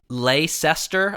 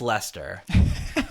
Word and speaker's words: Leicester: um it looks like leester I guess it's l e i c s t r oh Lister yeah but it's pronounced Lester about on that much